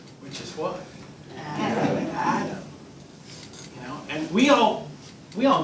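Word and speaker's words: אדם: We know at least a few people named Adam. In Hebrew, it's pronounced Adam.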